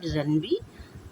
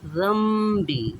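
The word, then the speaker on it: ذنبي: Okay, not zanbi, zambi. Okay.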